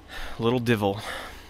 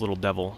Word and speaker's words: Little Divil: Little Divil. Commonly pronounced as Little Devil, because people just fail to realize that that's not the correct spelling.